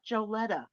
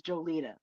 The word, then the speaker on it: Jolita: tell you straight out cuz it's not joletta what that's what it's pronounced as but we we we love you and we're gonna call you what you want to be called which is jolita ex your name is